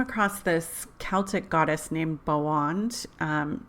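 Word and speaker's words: Boann: this Celtic goddess named Bo wand it's actually spelled boa and n like Bo am but they that last n is really a D when they pronounce it it's kind of weird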